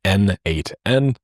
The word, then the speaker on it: n8n: It was written by the creator himself and he says that it means nodemation and it is pronounced as N8N.